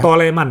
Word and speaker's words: Toleman: di F1 naik mobil tolman tolman bacanya Ya toleman Ya toleman toleman itu